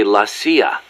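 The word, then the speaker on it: la CIA: around here they say la sia instead of c.i.a huh nothing strange about it that's how it's pronounced when you read it in spanish it has the feminine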